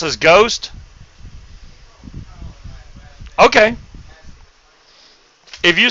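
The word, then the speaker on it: Geauxst: I'm thinking Gal because of the G-E-A-U-X. I'm going to have to put that in pronunciation thing and see if it does say Ghost or Goust, because I think it's the other way, but... Equals go ads st makes ghost.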